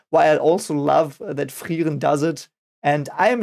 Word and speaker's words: Frieren: So you have the I and the E. It is pronounced E, like it would be a double E, I think, in English. The same sound you make there. So it's Frieren.